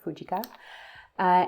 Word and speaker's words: Fujica: is the fujica stx1 I learned that's how you're supposed to pronounce this fujica and um this has